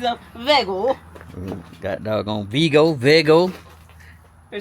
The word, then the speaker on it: Vego: We've been saying Vego, Vego, Vego, Vego, Vego. But they know them folk know we country. Complimentaries of Vego. Got dog on VGO.